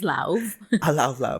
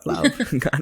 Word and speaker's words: Lauv: How do you pronounce love? And I'm like, maybe love or love. And we actually researched it, and it's We watch an Lauv. interview. My name is Lauv. Lauv.